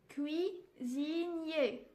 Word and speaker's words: cuisinier: j'aide mes jeudis cuisinier ici le s se prononcent z cuisinier le sait le huer